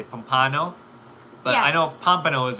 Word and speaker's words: Pompano: Counseling mom used to live in Pompano. You're killing me with your pronunciation. Pompano. Sorry, Pompano. Pompano.